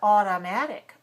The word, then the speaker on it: automatic: How about automatic? Automatic. Too strong? Automatic. American English, automatic. Second syllable is weak.